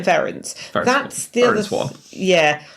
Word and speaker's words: Verence: But I'm saying Verence because it rhymes with Terence. Yeah, that's but they say Verence. It's really just a different kind of way of stressing the syllables.